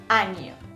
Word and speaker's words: año: mês, 6 meses, 1 año. Não se esqueça de pronunciar a N. Em espanhol, ano, sim, a N é uma parte do corpo.